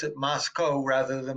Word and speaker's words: Moscow: And the locals say you pronounce it Moscow rather than Moscow. They want the name, they say to rhyme with Costco.